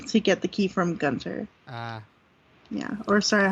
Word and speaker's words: Gunter: You have to donate a certain number of items to the museum to get the key from Gunter. Ah. Yeah, or sorry, how I pronounce his name, Gunther.